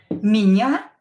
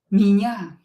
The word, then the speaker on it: меня: Меня зовут Nastya. As I told you before, when O is not stressed, pronounce it as A. Зовут. Зовут. And when E is not stressed, pronounce it as I. Меня.